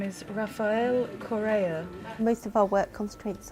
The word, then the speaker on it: Rafael Correa: in any language to our BBC broadcasters the pronunciation of the Ecuadorian president's name is Rafael Correa most of our work concentrates on foreign pronunciations